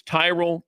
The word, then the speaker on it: Tyrol: It's Tyrell pickleball shoes. You spell it Tyrol.